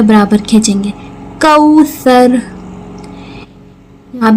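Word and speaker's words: كوثر: कौसर कौसर सा को नरमी से र को पुर करके वाओ लीन एक अलिफ के बराबर खींचेंगे कौसर यहां पे गुना करेंगे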